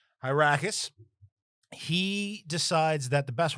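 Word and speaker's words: Hyrcanus: One of them is a guy named, hold on, I think it's Hyracus, but I just want to get the pronunciation right. Yeah, Hyracus.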